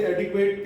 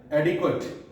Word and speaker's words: adequate: इसलिए यदि आप इसे एडिक्वेट कहते हैं, आज से आप छोड़ दीजिए. क्या बोलना है? एडिक्वेट, एडिक्वेट. ये वाली ए से प्रोनाउंस साउंड हो रही है ए से कौन सी साउंड हो रही है? ए. और यहां पर ए से साउंड हो रही है अ.